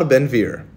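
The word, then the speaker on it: Ben-Gvir: of another murderous criminal it's Mar benvir think the g is silent similar to the International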